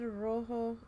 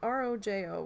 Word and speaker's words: rojo: So it's R-O-J-O, which I think is rojo. Sometimes J pronounces as H in Spanish, I think.